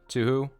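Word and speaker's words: Touhou: And I always, whenever I say Tuhu, I always am, like, conscious, like, I don't think I'm saying it correctly. But I think I've been assured that that is the correct pronunciation.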